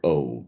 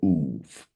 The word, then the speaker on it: Ob: is with respect to the word Ob. It's spelled O-B or Uv.